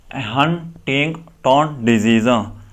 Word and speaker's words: Huntington's disease: तो हम इसको किस तरह प्रोनाउंस करेंगे, हाउ to pronounce it, हंटिंगटन डिजीज़।